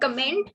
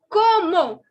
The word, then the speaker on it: comment: So please, please, please don't make the mistake of saying comment. It is not comment. It is como.